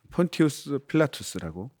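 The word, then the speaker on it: Pontius Pilatus: 폰티우스 필라투스라고 이제 발음하죠.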